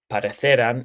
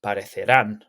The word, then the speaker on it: parecerán: Make sure that the stress of the word when you pronounce it is the same as where the accent is. So it's not parecerán, it's parecerán.